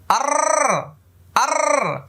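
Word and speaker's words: ر: দেখেন জিব্বার আগার পিঠ তার বরাবর উপরে তালুর সঙ্গে লাগে, যে জিব্বার উল্টে আর, দেখেন আর, এই যে একটা আওয়াজ করেছে আর আর, এরকম একটা র, র র, দেখেন কিভাবে জিব্বাটা লেগে যায়, র র, কিছুতে রা হবে না, রে হবে না, র হবে না, ঠোঁট গোল হবে না।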